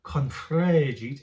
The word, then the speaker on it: confregit: bit of an accent, confregit. If you can roll your R, that would be really great. I cannot, but it just gives it a bit more, a bit of fun.